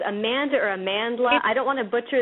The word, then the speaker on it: Amandla: if it's amanda or amandla i don't want to butcher this name amanla yep it says on her official site how to pronounce it in the sidebar so great okay so everyone it's amanla i actually i love